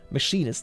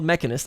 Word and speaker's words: machinist: mess in his job i did mispronounce it by the way machinist sorry machinist not mechanist i misread that straight